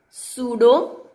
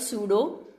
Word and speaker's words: pseudo: This is pseudo, P is silent here, so we will call it pseudo first order reaction, okay.